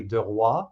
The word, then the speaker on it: Duroy: So Duroy is actually de roi. That's how you say it The in king?